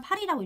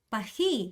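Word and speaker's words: Paris: 파리 파리라고 읽죠 파리 우리나라 사람 파리라고 읽지만 프랑스는 어떻게요 파히 이렇게 읽어요 파히 이렇게 는단 말이에요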